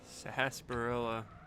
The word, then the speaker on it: sarsaparilla: you want to get sarsaparilla or something sasparilla that word was on a couple spelling bees that i was in sarsaparilla it's also one of his alternate pronunciations queen bp replay wait